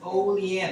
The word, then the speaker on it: Olean: Oh, by the way, that's pronounced Olean. We're actually going to the factory here in a few months.